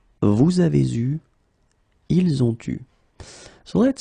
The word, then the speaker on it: vous avez eu: Then vous avez eu will become vous avez eu. Okay, so you can see that here you get the first liaison and then the second one here.